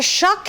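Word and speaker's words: kök: over here this is our shock and a shuck in sweden means kitchen it's spelled k-o-k with the two little dots over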